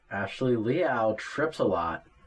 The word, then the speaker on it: Liao: Liao. It's Liao. kind of like cat's meow, but spelled like chow.